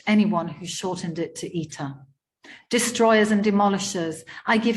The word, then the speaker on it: Ita: Ita with the stress on the first syllable, like Peter.